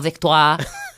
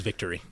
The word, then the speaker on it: Victoire: So sorry, Montréal Victoire. My husband, who's from Quebec, like yells at us every time we say it wrong. Because I definitely thought it was victory.